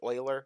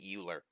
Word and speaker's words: Euler: this one particular constant Euler's constant and it's pronounced Euler users know sometimes people pronounce that Euler but it's spelled e u le r was